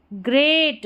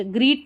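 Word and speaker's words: great: देखिए री ma'am R ई री एम ई M ma'am B ई आर ब रिमेंबर ग्रेट ग्रीट नहीं पढ़ना ग्रेट अ ठीक है अ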